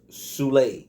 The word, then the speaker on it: Sule: him all types of names but um it's pronounced sule sule so sule and black soprano family has